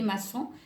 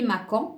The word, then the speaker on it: maçon: exemple limaçon regardez les maçons c'est comme un escargot mais qui n'a pas de coquille et si on ne met pas la silice ça va se prononcer les Macon donc on a ajouté l'acide